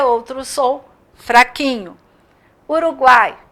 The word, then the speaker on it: Uruguai: Uruguai, mesma coisa. E aí tem os exemplos que eu coloquei para vocês verem. Vamos lá. Botei Paraguai, Uruguai. Quais? Esse U é pronunciado fraquinho.